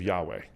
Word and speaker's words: Yahweh: It's the Hebrew letters Yud He Vav He, so we don't know how to pronounce it exactly. But let's just go with the standard way of Yahweh.